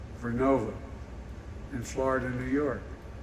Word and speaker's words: Vernova: COSA makes wind towers that's going to go into turbines made by GE Verona. Excuse me, I mispronounced it. Vernova in Florida and New York.